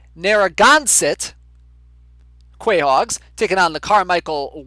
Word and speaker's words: Narragansett: langs taking on the nargonzit wait no nope nope that's not how you pronounce it it's pronounced narragansett quahogs taking on the